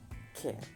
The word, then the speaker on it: cat: Simple, coloco la lengua atrás de los dientes inferiores y pronuncio la E. Cat, cat, cat. Observen la diferencia entre la primera, que era C-U-T, cat, que es con nuestra A, y la segunda, que es la media, cat, cat.